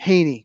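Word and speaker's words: Hanie: Um I believe it's pronounced Hy. Han I E. Haney.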